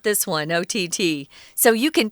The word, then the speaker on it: OTT: It's our technology unit for the month of January, and we're talking about something called OTT. This is not a word that is pronounced Ott.